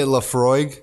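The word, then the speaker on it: Laphroaig: You say Lafroig? See, I'm learning right now. That's how I supposed to say it. Apparently that's how you say it. That's how they say it.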